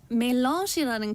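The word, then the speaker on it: Melange: 그래서 오스트리아 사람들은 보통 멜런시라는 커피 많이 마시는데 멜런시 네. 약간 프랑스어 발음. 아, 예, 멜러시.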